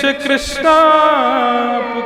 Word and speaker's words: कृष्ण: भगवान का किया था बोले नहीं आप हरे कृष्णा बोलते थे ना कृष्णा तो मेरा नाम है भगवान का नाम कृष्ण है।